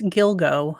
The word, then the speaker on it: Gilgo: yoga Beach task force okay so that's how you pronounce the beach it's Gilgo I was kind of